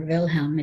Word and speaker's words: Wilhelm: wilhelm william ii or wilhelm if you're going to pronounce it in german german wilhelm ii was